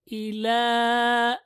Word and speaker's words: إلى: وإذا خلوا وإذا خلوا إلى إلى لام extend with the small ألف يا is silent.